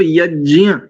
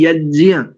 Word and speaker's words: यज्ञ: तो इसमें या भी है, नासिका सहित इसका उच्चारण होना चाहिए।